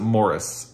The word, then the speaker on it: Maurice: They pronounce it Morris in the UK, and I can't stop saying Maurice. So I'm going to keep doing it.